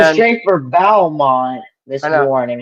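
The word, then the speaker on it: Beaumont: Uh, but straight for Bowmont, Mr. Warning, right? Is that how you pronounce it?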